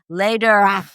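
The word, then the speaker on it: Läderach: So, it's pronounced later. Sort of the German later.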